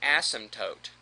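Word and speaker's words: asymptote: Another characteristic a graph could have is what's called an asmtote. You don't really pronounce the P.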